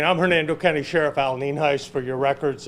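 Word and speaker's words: Nienhuis: good evening I'm Hernando County Sheriff Al ninhaus for your records it's uh spelled n-i-e-n-h-u-i-s and it's pronounced Neen Heist and I have the fire chief with me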